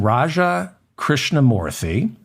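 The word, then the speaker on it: Raja Krishnamoorthi: Raja krishnamurthy is a Democrat from Illinois Congressman Raja krishnamurthy is a Democrat from Illinois I pronounced his name properly Congressman Raja krishnamurthy is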